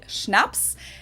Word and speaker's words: Schnaps: In German, we spell it like this and say Schnaps, and it means hard liquor.